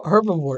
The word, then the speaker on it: herbivore: Then say the H. How do you spell herbivore? H-E, right? Yeah. You gotta say the H part, herbivore.